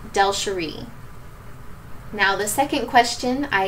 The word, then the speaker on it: DelSheree: it's a tricky one my first name is actually pronounced delsheree now the second question